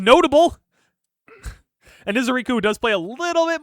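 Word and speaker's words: Ezeiruaku: Take Donovan Ezeriku, the Micah Parsons of Dallas. So, pretty sure it's pronounced Ezeraku, but it's okay.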